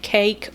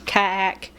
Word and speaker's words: Kaek: It's either pronounced cake or KAEK sandwich.